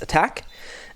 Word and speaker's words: ATK: ATK, first of all, actually pronounced attack.